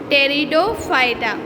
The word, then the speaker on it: Pteridophyta: Now third one is Pteridophyta. Pteridophyta P silent है, इस वजह से हम इसको P साइलेंट करके इस वजह से हम इसे क्या पढ़ते हैं? Pteridophyta।